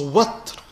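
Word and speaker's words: وتر: So وَطْر, which can also be pronounced وِطْر.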